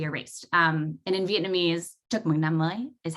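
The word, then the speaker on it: Chúc mừng năm mới: it to be erased um and in vietnamese chocomoogly is how you say happy new year so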